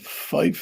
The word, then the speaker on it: Fife: Born and bred in Fife, I think that's the way you pronounce it, Kerry.